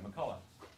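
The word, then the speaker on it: McCulloch: And it starts back with cybernetics and with this guy, McCullough. CH is silent.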